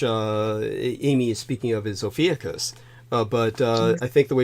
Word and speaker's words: Ophiuchus: I do want people to know that the way I pronounce the constellation, which Amy is speaking of, is Ophiuchus. But I think the way she pronounces it is fine.